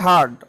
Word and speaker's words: heard: স্যার, হেয়ার্ড হবে। জি, HEARD, হার্ড। উচ্চারণটা হবে হার্ড, অনেকে কিন্তু হিয়ার্ড বলতে পারে, কিন্তু উচ্চারণটা হবে হার্ড।